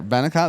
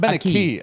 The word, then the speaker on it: ven acá: Benica, that's what it's pronouncing. B. Means come here. But a V in Spanish is pronounced like a B. Yeah, Benica. Not Benaki.